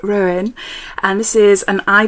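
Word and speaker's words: Róen: daughter then we've got ruin is how you say it ruin and this is an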